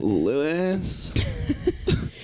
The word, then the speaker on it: Louis: name now yeah yeah there's a soft there's a silent soft moan at the end Louis uh today we're doing